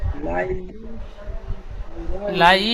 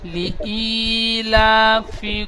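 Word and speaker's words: لإيلاف: লাই লাই হবে না, লি ই, লামসের লি, হামজা ইয়াজের ই, ইয়া মাদ্দা। লি ইলাফি কুরাইশ।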